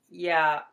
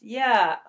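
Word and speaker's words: ياء: Ya. This is the Y equivalent in English, so it's pronounced Ya.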